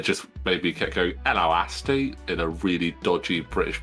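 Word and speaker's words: Ello Asty: Elo Asti, because he's named after the Beastie Boys song Hello.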